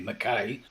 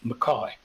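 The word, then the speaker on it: Mackay: ma c ka y which sounds like it should be mckay but it's pronounced McCoy okay so we go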